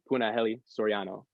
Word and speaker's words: Punahele Soriano: He is Punahele Soriano. Puna, did I pronounce that correctly?